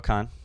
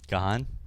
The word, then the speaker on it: Kahan: to go no Kahan Kahan is it not I just don't like your pronunciation at all is it not Kahan no it's Khan yeah like just C an Khan well it's not spelled